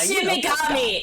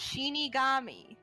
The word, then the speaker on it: Shinigami: Shin Shinigami is death god. It's like Yeah. Shinigami. No, not Shinigami. No, not pronounc like that. It's Shinigami. Shinigami.